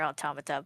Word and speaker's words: Automata: Automatada. Sorry, I've been saying it wrong this whole time. Automata.